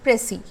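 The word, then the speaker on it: précis: ঠিক আছে, স্পেলিংটা PRECIS, কিন্তু আমরা উচ্চারণ করছি প্রেসি।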